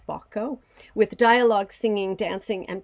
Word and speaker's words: Bacco: an anonymous composer that praises Bacco, in Italian it's Bacco, with dialogue, singing, dancing, and playing instruments.